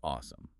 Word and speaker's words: OSEMN: And according to our sources, it is spelled o mn, but officially pronounced awesome, which I have to say is brilliant branding for a data science methodology.